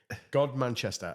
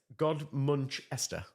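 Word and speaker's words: Godmanchester: okay I mean that just looks like God Manchester like I I I could we know it's not going to be that but God Manchester apparently it's God manchest God muncher God muncher God muncher okay okay yeah all right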